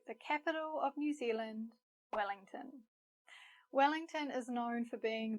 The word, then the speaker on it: Wellington: Wellington. Wellington. Notice how we say tin here. Not ton, but tin.